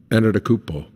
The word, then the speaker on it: Antetokounmpo: Could you say his name one time correctly, Giannis' name? Teach me, Ernie. Antetokounmpo. Antetokounmpo.